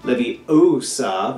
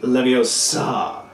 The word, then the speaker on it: Leviosa: how to pronounce Leviosa livvie osa versus Olivia saw when she's actually trying to explain there is that Latin never places the emphasis on the last syllable of a word and all the Harry